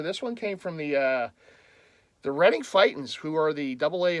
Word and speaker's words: Reading: And yes, it's pronounced Reading, not Reading. It looks like Reading, but it's Reading. That's the name of the town.